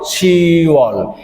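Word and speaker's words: 시월: ভাবে ছিরল ফারল খুল শিওল এই এখানেও কিন্তু দেখেন আগে আমাদের ছিল শিব শিবের সাথে অল সংযুক্ত করলে এখানে অভিযোগটা বিলুপ্ত হয়ে উচ্চারণ হবে শিওল তার মানে আমাদের ইউল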